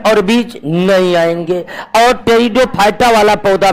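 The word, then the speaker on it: Pteridophyta: ब्रायोफाइटा ही है और टेरिडोफाइटा टेरिडोफाइटा में पी साइलेंट रहता है तो क्रिप्टो गेम को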